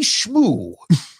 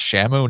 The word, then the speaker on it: Shamu: and you can see schmoo I get to the office I'm like Ted did nobody tell you that Shamu is pronounced Shamu not Sho he goes oh of